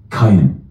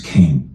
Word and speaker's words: Cain: Bible if that means anything what no who's pronounced cayen but I'm known as Cain